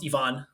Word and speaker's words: Ivan: be here and uh even though my name is spelled Ivan it's actually pronounced Ivon so I'm glad you